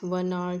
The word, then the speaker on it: hour: Alright, initial pronunciation of the word is important, not the initial letter of the word. For example, if I write HOUR, okay, R means 1 hour, 2 hour, okay, घंटे,